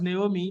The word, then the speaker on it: Naomi: Okay, actually, it's pronounced Naomi. Naomi, good evening.